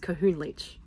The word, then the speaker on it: Kohunlich: We have arrived at the Connor le. Hi, future editing Kira here. It's pronounced kahoon leachch lion ruins.